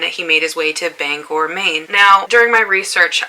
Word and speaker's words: Bangor: things are pronounced but bangor is pronounced bangor not banger so if you are